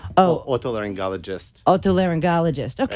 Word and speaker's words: Otolaryngologist: Otolaryngologist.